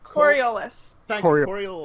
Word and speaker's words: Coriolis: try to pronounce it Coriolis yeah the court like the Coriolis effect okay thank you someone